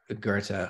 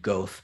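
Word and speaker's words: Goethe: of Steiner um and Gerta who at that point I was uh pronouncing goth because I'd only read it uh and so you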